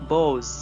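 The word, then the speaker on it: boughs: And gather birds, और वो परिंदों को जमा करते हैं, अमंग देयर बोज, है ना। बो ये जो लिखा हुआ है BOUGH, उसमें GH जो है वो साइलेंट है, उसे बोज पढ़ेंगे।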